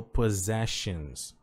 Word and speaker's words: possessions: Olha que interessante como esse aqui soa como Z.